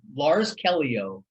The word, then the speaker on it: Lars Callieou: okay so your comedy special is a the lars kelio comedy now and i pronounced your name right exactly right now special